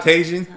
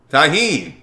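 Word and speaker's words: Tajín: That's how you say it? Not Tajin. Tahine.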